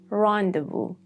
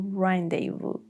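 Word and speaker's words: rendezvous: rendevu or rendevu sin.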